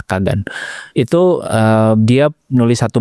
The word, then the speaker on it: Kagan: Noah Kegen ya. Tapi bacanya Noah Kagan itu ee dia nulis satu buku gimana caranya lu bikin sebuah bisnis over the weekend.